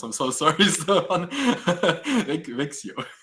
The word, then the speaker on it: Växjö: So I see there's a continuation to this question for the links regarding the housing queues and I cannot pronounce. I'm so sorry. Stefan. Växjö. Växjö.